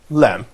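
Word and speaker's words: لام: To pronounce Arabic lam, to hold the tip of your tongue against the back of your teeth at the roof of your mouth, and to keep your tongue as high and frontal as you can.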